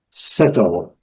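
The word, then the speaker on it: subtle: Settle, o B não é pronunciada e o E também não é pronunciado.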